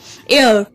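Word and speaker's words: heir: Next আছে অ্যান ইয়ার, এইচ ই আই আর, এটাও এইচ দিয়ে শুরু হলেও এটার প্রোনাউন্সিয়েশনটা হচ্ছে ইয়ার।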